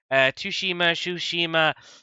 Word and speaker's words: Tsushima: Tsushima. I think the T is silent.